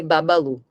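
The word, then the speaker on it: Bubbaloo: É que nem, por exemplo, Babalu e se escreve Bubalu, mas se lê Babalu.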